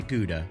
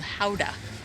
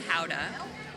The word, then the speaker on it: Gouda: the town is called Howa. So the G is kind of like an H sound. Gouda. Howa. So here we are in Howa and only once a